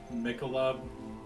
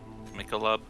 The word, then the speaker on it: Michelob: I think it depends like where you are.